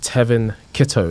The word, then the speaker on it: Tevin Kittoe: and Nuggets so today I am sat with Tevin Kito did I pronounce the name right bro yeah you got